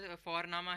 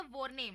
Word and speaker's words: Vorname: और हम यहाँ पे फोरनामा प्रोनाउंस करते हैं बट लिखते हैं उसको VORNAME। ओके, तो वो हम इंग्लिश के अनुसार प्रोनाउंस करेंगे तो वो बनेगा वॉरनेम, बट नो, इट्स फोरनामा।